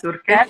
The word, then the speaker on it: Turchetti: Mas a Gisela Turquete, é assim mesmo que pronuncia? Isso, Turquete? perfeito, certíssimo.